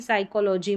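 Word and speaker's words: psychology: फिर है पी और एस। यहां पर इसको भी स पढ़ेंगे क्योंकि पी यहां पर साइलेंट है। जैसे कि साइकोलॉजी में रहता है।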